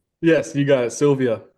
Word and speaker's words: Sylvia: just want to make sure I did pronounce that last name correct right right yes you got it Sylvia like the I say the woman's first name